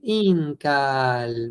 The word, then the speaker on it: incal: Acuérdense, no pueden pronunciar fuerte cal. Incal, incal, incal. No había palabras que tuvieran su sílaba tónica al final. No había palabras agudas, solo graves.